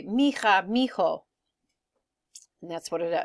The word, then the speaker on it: mija: Mi hija is how we'd want to say it, but oftentimes in Spanish they'll say mija because the H is silent, and so it kind of all goes together.